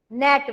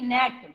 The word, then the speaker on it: gnat: Now they are telling net. One word is given, GNAT, net. GNAT, net. In that, as you can see, the color is different of G. It means G is silent.